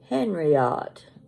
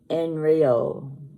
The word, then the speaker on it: Henriot: t it looks like henriot that's in English but it's pronounced enre you don't pronounce the h and you don't pronounce the T at the end enryo campare you learned something